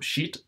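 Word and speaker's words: שית: Prononcer shit, ça s'écrit S-H-I-Y-T-H, qui se prononce comme shit, S-H-E-E-T-H, qui qui veut dire poser, fixer, mettre, désigner, fixer son esprit sur.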